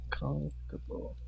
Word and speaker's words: comfortable: Comfortable. OR. OR. OR or last LE. So in the audio, it is like the OR, right? Yes. Okay, so they do not pronounce the OR.